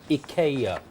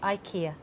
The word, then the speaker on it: IKEA: Mike Hinson Evans says the native name in Sweden and Denmark is Ika yeah but Richard does he now I have looked on the official BBC pronunciation guide yes and we are supposed to say Ikea oh well I think